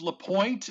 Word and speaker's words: Lapointe: exactly yes uh late hits to um super chat tonight joe from uh steve lapointe and it is la pointe by the way the e is silent okay uh and chuck